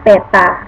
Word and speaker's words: theta: Theta, nah ini dibacanya theta ya, tulisannya seperti 0 tapi di garis di tengahnya, itu artinya sudut, sama dengan 60 derajat sesuai dari gambar.